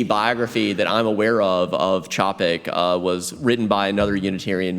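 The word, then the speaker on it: Čapek: It's called a charon. It's a diacritical mark that tells you to pronounce that first letter like the CH in chocolate. So it's not Capik, it's Chopik. And to make sure I'm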